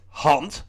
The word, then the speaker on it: hand: the scelt and uh the Dutch word for hand is hunt spelled the same only pronounced differently and Von is a